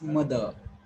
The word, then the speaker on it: mother: know that this time you cannot pronounce R clearly. You can call it mother. Okay. So is long and it seems that you're pronouncing R, but you're not pronouncing R at all. So it is mother. So when I say mother, there is no R, I'm just pronouncing.